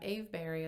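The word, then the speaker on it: Avebury: know i'm going to talk about aveberry as well or i think that's how they say it ave berry it's about from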